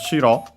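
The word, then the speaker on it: 城: after that we have shiro which you have seen in this very series it's the term for castle the strictly Japanese term an accented Uh as a reminder to not be confused with shiro accent on the first syllable which means white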